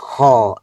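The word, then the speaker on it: خاء: খ এর মাখরাজ হচ্ছে কন্ঠনালীর উপরি ভাগ।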